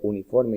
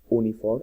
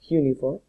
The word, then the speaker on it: uniform: Hay algunas palabras que aunque empiecen con una vocal, por ejemplo, uniforme y universidad, no se pronuncia uniform o university, no, se pronuncia uniform y university, como si fuera una J.